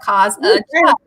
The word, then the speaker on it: Kazachuk: How do you pronounce it? I said just the way it's spelled, Kazachuk.